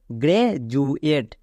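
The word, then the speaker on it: graduate: কি হয়ে যাবে গ্রে ডি ইউ এর জন্য জু কেন কারণ ডি এর দুপাশে দুটি ভাওয়েল আছে তাই ডি ইউ জু একে ভুল করেও ডু বলো না এবং এ টি ই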